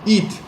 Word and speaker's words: eat: On dit eat, on ne dit pas H, on ne prononce pas là. C'est un I long, eat.